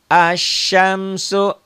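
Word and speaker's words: الشمس: Yang berikutnya adalah alif lam syamsiah, alif lam yang tidak dibaca.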